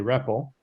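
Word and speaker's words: REPL: is also called a rebel pronounced like Rebel but with a p the name comes from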